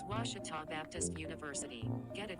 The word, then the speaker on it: Ouachita: oh a cheetah back in texas everybody pronounces it wichita but really it's ouachita washington washington how would you pronounce it it's washita baptist university get it right it's washi talk